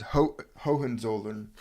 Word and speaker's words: Hohenzollern: It's Hohenzollern.